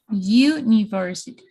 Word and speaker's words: university: So my pronunciation is going to start with Y, university.